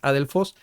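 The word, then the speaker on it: ἀδελφός: Primero nos dice que hay diversas teorías que afirman que Adelfos o Adelfos, más bien recuerden que la pronunciación es Adelfos, no era más que sus primos.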